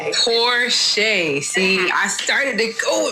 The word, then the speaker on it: Porcher: You didn't butcher it, but it's pronounced Porsche. It's okay. Porche.